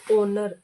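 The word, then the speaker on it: honour: लेकिन इसकी प्रोनंसिएशन होगी हमारे पास ओनर। एच जो होगा वो हमारा साइलेंट होगा।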